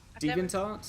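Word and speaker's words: DeviantArt: supp I have a how do you pronounce it a a deviant is that how it's pronounced devant art yes I have one of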